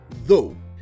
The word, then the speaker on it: though: répondons un commentaire en parlant du mot anglais do déjà rapidement la prononciation de ce dogme c'est un truc dont